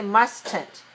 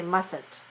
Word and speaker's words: mustn't: message boxing mustn't and the t is silent when we make the negative muscle I mean the T we don't say must tint we say mustn't Mustang do we make